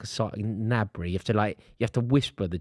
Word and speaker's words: Gnabry: It's like a Gnabry. You have to whisper the G. You have to pretend you're going to say the G, but they're not. It's like Gnabry.